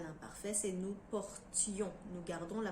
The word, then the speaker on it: portions: première personne du pluriel à l'imparfait c'est nous portions nous gardons la prononciation du thé comme pour le verbe portée alors que le nom t é o n s est souvent prononcée sion une portion des portions donc c'est un petit peu plus facile quand